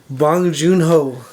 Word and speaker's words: Bong Joon-ho: And Parasite, Bong Joon-ho.